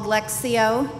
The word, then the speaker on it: lectio: really appreciate it's called lectio Divina it's spelled with a t but the t is silent I learned this practice